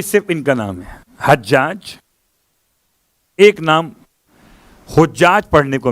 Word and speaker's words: حجاج: لیکن جہاں تک جو زیارت ناحیہ کا جملہ ہے اس کے لحاظ سے اس پر پیش نہیں ہے، زبر ہے، حجاج ہے.